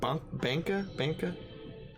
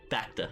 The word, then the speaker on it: Bacta: So we're starting with mispronounce things so many times. Is it Banka? Bacta.